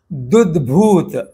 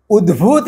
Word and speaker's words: उद्भूत: इस उच्चारण दोष को हटाने के लिए मैंने वो लाल रंग में चिन्हित करके त को प्रथम पद में बोलना है और द्वितीय पद में उद्भूत शब्द बोलना है, न कि दुद्भूत।